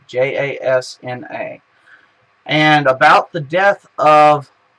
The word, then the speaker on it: Jasna: Jasna spelled with a J. Jasna.